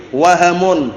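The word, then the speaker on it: وَهَم: yang kelirueliru ya Q wahamun bukan wahmun wahamun bacanya karena wahmun nanti lain lagi kalau wahamunatun waq wahamun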